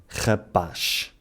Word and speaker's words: rapaz: Quanto à letra Z, embora em português esta normalmente faça o som Z, a única exceção é quando vem no final das palavras. Nessas situações faz o som sh, rapaz.